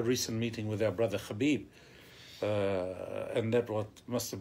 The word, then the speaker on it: Khabib: I should say Habib his name is Habib um of course is